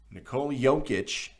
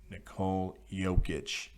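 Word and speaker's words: Nikola Jokić: that jokic not djokovic jokic was the guy who got his name mispronounced on the broadcast nicole yokic nicole yokic that's how you say it shout out to zach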